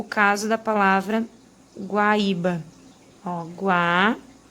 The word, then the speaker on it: Guaíba: o caso da palavra guaíba. Guaíba. A gente vai ter esse acento aqui num hiato e recai sobre uma paroxítona, porque a gente tem aqui a penúltima sílaba como sílaba mais forte, tá?